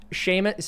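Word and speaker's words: Seamus: right so so so my venmo is at sheamus see my name is horribly difficult to pronounce and spell so it's s at s-e-a-m-u-s-c-o-u-g-h-l-i-n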